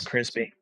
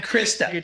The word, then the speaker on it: Krista: He couldn't say my name because he was from Kenya, so he didn't speak English very well. He called me Crispy. Do you need another drink? I'm Krista.